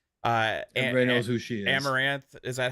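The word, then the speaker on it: Amouranth: Amaranth, is that how you pronounce it? Amaranth.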